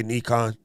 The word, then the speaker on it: Nikon: and oh and andrew by the way i pronounce it properly i say nikon so don't don't get sad i'm a japanese